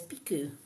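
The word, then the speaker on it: Pixiu: Pikachu cartoon characters but uh as as actual pronunciation is piku the little dragon yep Kelly's heard of piku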